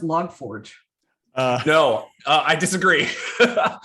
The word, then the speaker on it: log4j: what i read somewhere it's pronounced log forge uh no uh i